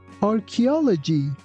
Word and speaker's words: archaeology: Here again ch doesn't sound like ch. It sounds like c. That's why we say archaeology.